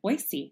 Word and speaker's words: Boise: Is that that's the you're supposed to pronounce it Boise.